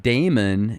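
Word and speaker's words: daimon: when you look at the old definition of demon it actually used to be pronounced Damon and the Greeks looked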